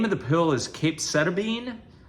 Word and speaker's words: capecitabine: The name of the pill is capecitabine. Some people pronounce it differently. You hear capecitabine. But anyway, capecitabine is the way that my nurse has pronounced it, or capecitabine. Anyway, it doesn't matter.